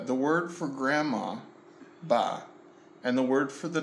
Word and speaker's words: bà: No, wait, I'm sorry, three is ba, and grandma is ba. You got that, guys? Yeah. Pretty sure I'm saying those at least somewhat close. Yeah, you're close. To correctly. But literally, they are spelled the same. There is just an accent over the A in grandma. Mm-hmm. But they sound almost exactly like.